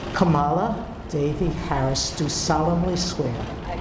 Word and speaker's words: Kamala: presidency and Vice President Kamala Harris being sworn in here. Supreme Court Justice Sonia Sotomayor does mispronounce Kamala's name as Kamala.